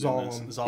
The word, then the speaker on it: Zalem: Now, I'm not sure if they call it Zalem or Zalem, because it's hard to tell about their pronunciation. Zalem. It was definitely a hard Z.